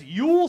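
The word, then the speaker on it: Youell: on the right, that's Yule Sweeney. Yeah, that's a fun name, too. His first name is spelled Y-O-U, like you, and then E-L-L, all in one word. So it's U-L Sweeney.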